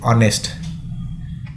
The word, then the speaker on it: honest: with Vel Sounds here though H is a consonant we are not pronouncing the sound of H that is ha so we are pronouncing as honest it The Sound begins